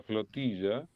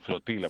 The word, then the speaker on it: flotilla: Pero el tema de la flotilla, eh, utilizan un término en español porque en inglés no existe el término flotilla. En inglés le dicen flotila porque no saben pronunciar la tampoco. Bueno, algunos de los nuestros tampoco, mucho.